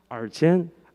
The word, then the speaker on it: Archen: Archen? Archen? Yeah, it's kind of like that. Of course, can you pronounce his name? Archin.